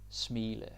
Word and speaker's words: smile: At smile. To smile. Right? Same spelling, different pronunciation.